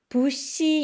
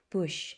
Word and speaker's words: bush: Bush 여러분 이때 SH 발음 쉬 이런 이렇게 발음 돼 쉬 부시 이렇게 하면 못 알아들어요 부 SS 발음이 쉬